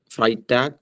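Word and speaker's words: Freitag: donor's tag f tag fry tag zam tag zone tag uh can you say Friday again Friday tag okay or fray like cry fry Uh okay Harudani go ahead.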